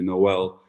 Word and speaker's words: Noel: it by birth or by pronunciation of my name, it's actually Noel, but very few people actually get that correct.